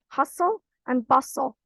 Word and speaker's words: hustle and bustle: Hustle and bustle. Remember, the T is silent in both of the words.